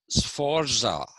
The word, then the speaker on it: Sforza: concerned everyday life so he first identified this sforza family s f o r z a s forza it's like you pronounce you don't say pizza you say pizza